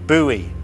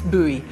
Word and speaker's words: Bowie: rifle or a pistol i always used to think that one pronounced his name bowie until somebody told me no you're wrong it's buoy um and i think